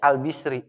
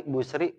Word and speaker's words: al-Bisri: Al-Bisri, Al-Basri, Al-Busri. Bisa dibaca 3. Yang cakep dibacanya Al-Bisri. Nyesuaiin sama harokat roknya. Orang Arab kagak mau ribet. Basri, Busri, keribetan bagi orang Arab.